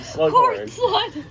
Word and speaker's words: Slughorn: I I thought it said horn and then I just mixed up the I just mixed up the syllable cuz originally slugghorn.